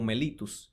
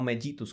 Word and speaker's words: mellitus: además la rae subiera nombrarla como mellitus y no mellitus como se escribe ya que este vocablo proviene del latín y la doble l en latín se pronuncia como una sola l en qué consiste la